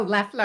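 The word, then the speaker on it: Loeffler: Oh, I said Laughler. Oh, Leler. Laughler. Left. It sounds like it's got the O, but it's Leler.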